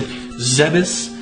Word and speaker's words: Zebes: They pronounce it Zebus. I never liked that personally, but, you know, to each his own. I like Zebes more.